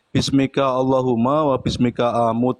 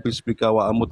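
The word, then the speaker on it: بِاسْمِكَ اللَّهُمَّ وَبِاسْمِكَ أَمُوتُ: bacanya salah, mohon maaf, saya koreksi ya. Bang Neplos sebentar ya. Bismika Allahumma wa bismika amut, bukan bismika wa amut ya.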